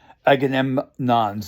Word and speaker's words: Agamemnon: Agamemnon I'm pronouncing right.